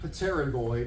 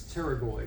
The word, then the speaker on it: pterygoid: That's your pterygoid processes. Not pterygoid, it's pterygoid. The P is silent.